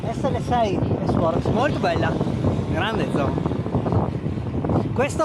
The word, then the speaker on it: Zhon: Il mio nome è Zon. Zo. Zon. Ok, con la N in fondo, Zon.